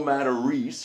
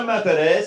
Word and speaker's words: Matarese: He goes, that isn't a Matarese. That's a Matarese.